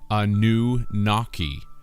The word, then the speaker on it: Anunnaki: Anunnaki is phonetically Anu-Naki, or a new water